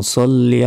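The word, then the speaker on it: صَلِّ: আল্লাহুম্মা সল্লি, অনেকে সাল্লি বলি, আল্লাহুম্মা সাল্লি বলি, এটা ভুল।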